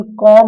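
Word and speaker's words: comb: देखिए M और B यदि आते हैं, क्या आते हैं, M और B, M और B, तो ध्यान रखना कि इसमें B साइलेंट रहता है, इसमें B क्या रहता है, साइलेंट रहता है। तो इसका प्रोनाउंसिएशन कॉम होगा, और कॉम में डिफ्थोंग है, कॉम।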